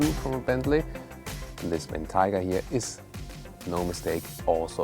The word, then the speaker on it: Bentayga: By the way, I'm saying Bentayga and not Bentayga. The Bentayga would be, the English style pronunciation, but I've asked a